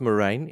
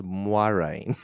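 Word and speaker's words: Moiraine: totally okay so it's it's not morine it's moin it's moin it's uain it's padan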